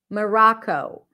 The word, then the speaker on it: Morocco: sounds that you've learned Morocco Morocco look at my mouth M ra Co this one I'm writing it with a W but you know if we're thinking of IPA this is the IPA for forgive my handwriting I don't know how to write with this pen okay this is awah Morocco Moro good practice it with